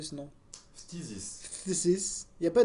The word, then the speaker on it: Phthisis: Phthisis. Physis. Il n'y a pas de i après le Non mais th. c'est le mot existe en français. Hein. Ouais, C'est Physis.